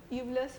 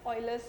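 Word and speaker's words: Euler: ही बताया था की कभी कभी हम इसको एवलेस फॉर्मूला बोल देते हैं बिकॉज़ उसका जो स्पेलिंग है वो ऐसा बट दें मुझे कुछ दिन पहले ही पता लगा की आईटी इस नॉन आज ऑयलेस आईटी इस प्रोनाउंसड स तेल स फॉर्मूला तो हम भी ऐसा ही बोलेंगे ठीक है सो व्हाट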